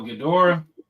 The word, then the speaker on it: Ghidorah: That Ghidra, man, that King Ghidra, I think I'm saying it right. Oh, Ghidorah?